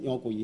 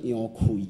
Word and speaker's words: 楊逵: 啊，那杨奎应该读作杨奎啦，杨奎啦吼。